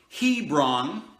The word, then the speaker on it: Hebron: it's the same word Hebron the H is silent a bra are BA